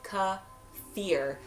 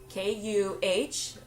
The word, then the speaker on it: kefir: So some say Kefir, some say Kefir, but the Kefir, but the actual pronunciation is Kuh-fear, Kuh-fear.